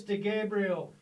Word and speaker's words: DeGabriele: certain chris de gabriel is that how you pronounce it it's chris de gabriel oh chris d is that a middle initial